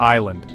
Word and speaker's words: island: Or how about island? That S is just hanging out, doing nothing.